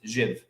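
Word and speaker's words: Zyw: But the best way to remember it is Dr. Zhivago. You pronounce it Zhiv, Z-Y-W.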